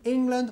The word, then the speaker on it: England: and you know when England won the World Cup como podemos Inglaterra England England you know England so England don't decay or acai an emphasis in la primera syllable mmm-hmm when England won